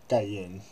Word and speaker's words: Karen: Karan and Ken is a um it's technically pronounced gayen but gayen is a um it's like a